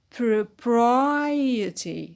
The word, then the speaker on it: propriety: fluidity fluidity the word proper proper when we add the suffix it becomes propriety propriety so the stress on pry the anti-penalty fertile fertile